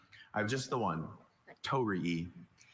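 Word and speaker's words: torii: it more authentically in the original language next Tori, could I have the definition?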